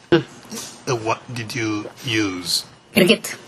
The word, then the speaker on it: Kirgit: Kirgit. How do you spell that?